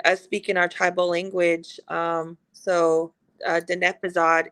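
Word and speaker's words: Diné Bizaad: And I mean, us speaking our tribal language, Denepazad is how you say our tribal language.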